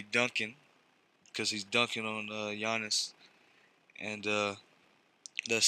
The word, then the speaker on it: Giannis: I've been saying his name wrong, supposedly Giannis.